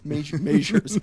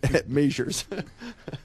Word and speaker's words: Mazur's: You mean Myers Bakery? No, it's Mazur's. I can't do the correct pronunciation. I'm not Polish, but it's Mazur's.